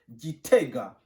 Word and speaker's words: Gitega: On prononce Gitega.